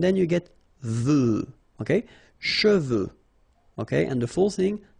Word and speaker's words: cheveux: of a problem because some of the students normally pronounce it chevaux, okay? So try to keep in mind that you get E-U here. So it goes like okay, and then final X not pronounced, sorry, final X, should pronounce it the French way. Final X is not pronounced. So you get che, and then you get